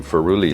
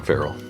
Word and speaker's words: feral: Cables loose from our little excursion into ferui land. Ferui is the wrong way of saying feral.